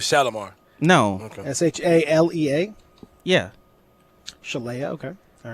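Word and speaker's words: Shalea: name is chalet no that's her first name spell it s-h-e-l-e-a that'd be mistaken with shalamar no okay s-h-a-l-e-a yeah chelya okay all right oh okay well that checks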